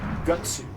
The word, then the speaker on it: Guts: specifically the main character they call gutsu which is like how it's pronounced in Japanese but every other character